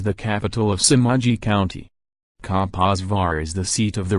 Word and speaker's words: Kaposvár: Kaposvár, Hungarian pronunciation, Kaposvár, German, Rupertsberg, see also other alternative names, is a city in the southwestern part of Hungary, south from the Lake Balaton.